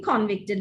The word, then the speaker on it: convict: The convict was here, he's been convicted. No, the convict is here and he's been convicted. When you use it as a verb, make sure you move the accent to the second syllable.